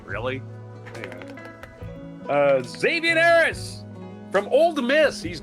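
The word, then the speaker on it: Zxavien: Zavian Harris, I can't think of no way to pronounce X and a Z except Z, right? Zavian Harris.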